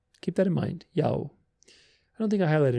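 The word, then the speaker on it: Iao: But it's transcribed iota, alpha, and omega, which is interesting. There's alpha and omega, right? I-A-O, Yao. Keep that in mind, Yao.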